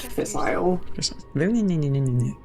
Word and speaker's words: fissile: It's pronounced fissile.